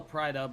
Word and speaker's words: Prix: It's still Prido because Prix is also Pri is spelled Prix, but you don't pronounce the X. It's just Pri. So Prido.